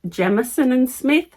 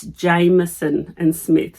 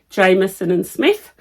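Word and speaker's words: Jamieson & Smith: I actually pronounced it wrong so I've been pronouncing it Jamison and Smith and she said it's Jameson and Smith so I apologize if you're one of those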